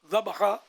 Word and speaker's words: ذبح: پاپا کبھی آپ نے جانور ذبح کیا ہے؟ ذبح ویسے ذبح صحیح تلفظ ہے.